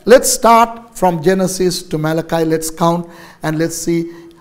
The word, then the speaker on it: Malachi: Jonah, Micah, Nahum, Habakkuk, Zephaniah, Haggai, Zechariah, and Malachi or Malachi, if you want to pronounce it that way.